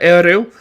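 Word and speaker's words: Ériu: It's actually pronounced with a rolling R, Eru, but people just say Ariel because not too many people can actually roll their R's.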